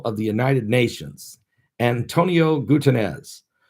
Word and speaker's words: Guterres: the united nations antonio gutenez or guterres is how you say his name anton antonio guterres he